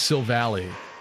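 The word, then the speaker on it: Silvally: and the other thing nobody says everyone say says Sil valy which I think flows better but I think it's supposed to be ally right isn't that like the the the base of the name so it's Sil salii salii having Arc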